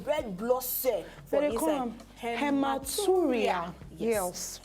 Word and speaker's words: hematuria: The medical condition if you get red blood cell for inside hematuria. Yes, hematuria.